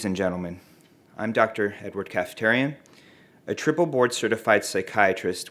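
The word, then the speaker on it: Kaftarian: okay thank you very much my name is Dr Edward cafeterian my first name is spelled e-d-w-a-r-d last name k-a-f-t-a-r-i-a-n and I'm with orbit health telepsychiatry good afternoon ladies and gentlemen I'm Dr Edward cafeterian a triple board certified psychiatrist with specializations in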